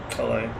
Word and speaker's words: Calais: However you want to pronounce this, Calais, Calais. It's Calais.